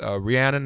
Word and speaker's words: Rhiannon: of the women's March in Ohio Rhiannon childs Rhiannon how are you good morning am i pronouncing your first name correctly yeah wonderful glad